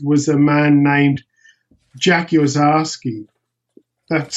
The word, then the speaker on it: Orszaczky: to play with was a man named Jack Ozarski. That's spelled Orszaczky, Jack Ozarski, and he was the guy to play with.